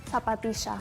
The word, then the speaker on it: zapatilla: How do you say this? Zapatisha. Oh, wait, did I put myself top right? Yeah, hey, look at that. Let's go. I say zapatilla.